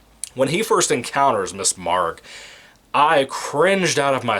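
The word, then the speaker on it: Maargh: name it's like mrs mark as an m-a-a-a-r-g-h as in like you're yelling argh as in you got hurt mrs mark or or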